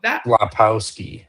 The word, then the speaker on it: Filipowski: They thought Filipowski Yeah, I sorry yeah, I can't yeah, Filipowski. That's that's how you I should have pronounced it.